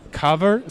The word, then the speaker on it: Covr: This time Covr, how is it pronounced? Covr Security. I'm sorry, it's Covr Security.